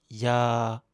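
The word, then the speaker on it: ยา: mais la consonne de droite, yoying, elle se prononce N à la fin des mots. Médicament se dit ya.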